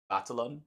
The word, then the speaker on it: Batalon: Batalon.